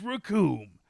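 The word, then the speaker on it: Recoome: The name's Raccoon, and it rhymes with doom.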